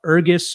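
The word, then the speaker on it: Ergys: make sure you guys search him up ergus it's spelled e-r-g-y-s uh sagetta s-i-g-e-t-a uh he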